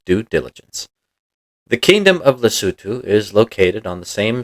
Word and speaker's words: Lesotho: pronounced it that way the country is pronounced lutu it has to do with the way the cutu language decides to spell its words but didn't we already